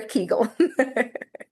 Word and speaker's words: Kegel: I think either is acceptable, like Perfect. Kegel or Kegel.